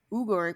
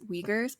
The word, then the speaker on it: Uyghur: on crimes against the uber people in xinjiang china earlier this year please note that you might have heard it pronounced as uyghurs before which is common in the english speaking community and this pronunciation has